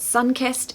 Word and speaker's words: sun-kissed: lovely so pronunciation tip it is important to stress Sun not kissed if you say sun kissed it just almost sounds like a totally different word or a totally different